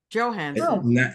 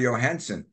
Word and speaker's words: Johansson: starring in it also Johansson Johansson Johansson you keep pronouncing Jay's the you know the SP Spanish way it's no it's joh that's how it's Swedish is it Johanson Swedish